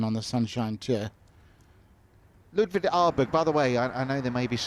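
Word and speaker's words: Åberg: I think it's Arberi is how they say it in Sweden, but I mean, we're going to go Aberg, aren't we?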